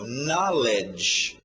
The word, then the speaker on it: knowledge: A pronúncia fica um pouco estranha. Knowledge.